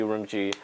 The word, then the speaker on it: Urumqi: And then Gucci, Urumqi. it rhymes together.